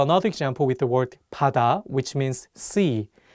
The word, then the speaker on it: 바다: Let's do another example with the word 바다, which means sea. The pronunciation of 비읍 in this word is different than the one in 가방. In this case, the 비읍 is pronounced more like 피읍.